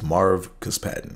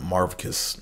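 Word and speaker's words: Marvcus: Yeah, I paused for a minute because his name is spelled with a V. It's Marv Cus Patton. Like, it's M-A-R-V-C-U-S Patton. So the V is silent, but I remember one game, I think one announcer called him Marvicus, and I was like, man, he motherfucker.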